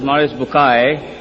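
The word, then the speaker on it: Maurice Bucaille: a scholar of Quran Dr moris buky pronounced as moris bukai am I right Dr do matter okay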